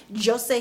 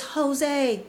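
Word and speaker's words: José: they speak portuguese and in portuguese the j is not pronounced as an h sometimes it's a hard j like here in the united states sometimes there's a z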